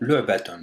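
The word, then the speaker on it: لعبة: Donc, pour le prononcer, en fait, il va se prononcer en 3 temps. Donc, on a un premier temps qui c'est le, Donc c'est le lam avec la damma et qui se termine par le son ayn parce qu'il y a un soukoun ici.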